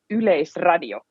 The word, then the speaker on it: Yleisradio: This is YLE in English and Yleisradio.